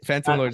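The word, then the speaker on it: Fantom Lords: be saying it wrong again no you're right Phantom Lords they came out of a hackathon 2o and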